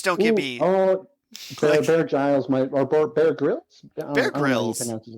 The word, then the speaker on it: Grylls: I definitely want a Bear Grylls or Giles. I should really look up how it's pronounced. It's Grills. It's Grills.